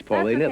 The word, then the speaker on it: Paulina: I was accused a couple of times tonight of mispronouncing your name, which I may have done. It's Paulina.